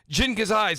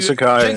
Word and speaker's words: Sakai: It doesn't feel like you said the Jin Kazais and the and I'm saying it wrong too. What was it you say? You gave it was Ghost of Tsushima, but like Jin Sakai, Sakai, Aloy from Horizon.